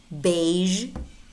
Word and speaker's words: beige: list just learn them beige beige he it's not big beach it's beige massage massage garage